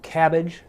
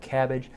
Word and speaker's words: CABG: coronary artery bypass grafting or cabbage cabg we pronounce that cabbage a coronary artery bypass